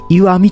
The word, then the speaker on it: 石見: おりますイシイ mito 書いてですねゆあみと読むこれもね知ってい